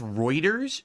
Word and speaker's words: Reuters: a large amount of it's pronounced Reuters really I had no